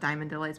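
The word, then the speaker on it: DIY Delights: DIY or she says pronounced Diamond Delights, but I can't help but say it out like phonetically. Um, but yeah, check out um, Diamond Delights.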